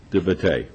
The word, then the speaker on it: De Beauté: De Beauté. De Beauté.